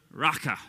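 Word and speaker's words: raca: say to their brother raqqa is how you say that that is a hebrew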